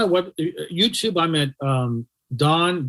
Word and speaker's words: Dohn: go on my web YouTube I'm at um Don dohn make sure my name is spelled d-o-h-n uh the infinite wealth strategist okay